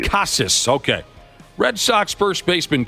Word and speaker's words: Casas: don't know the how how do you say the last name kasus I believe casus okay Red Sox first